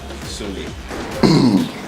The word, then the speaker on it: Tsoule: A lot of people tend to use different, because of the way the name is spelled, Tsoule, the T is silent, you know, and who is Tsoule in the 2018?